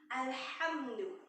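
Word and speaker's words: الحمد: Ini alham, ini menggunakan ha tipis, ya. Jadi bedakan ha kacamata dengan ha tipis, ya. Ha kacamata ini tenggorokan bagian bawah, sementara ha tipis ini tenggorokan bagian tengah, ya. Jadi cara penyebutan ha tipis ini lembut, makhrajnya ini, cara menyebutnya ini ha tipis ini penyebutannya lembut dan mengalir udara, ya. Ha, hi, hu, ya. Ha. Alhamdu, ya.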